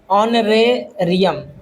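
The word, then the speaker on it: honorarium: तो ये है ऑनरेरियम, एच को साइलेंट करके बोला गया है।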